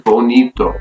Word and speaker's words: bonito: write an accent mark an example is bonito the word ends with O which is about so the stress is going to be on a second to last syllable the I will need though okay so you gotta stress that I rule number three with